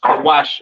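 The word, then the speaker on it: כוש: kushites you understand uh pronounced kawash in the Hebrew Syrian spelling over here to the right kaash the Kawa and sha characters syan spelling excuse me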